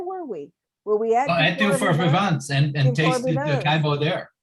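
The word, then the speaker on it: Durfort-Vivens: really supported, Claire, is Dufour Vivants. And your cousin, Francois Villars, taught me to say it correctly because I wasn't pronouncing the S, right?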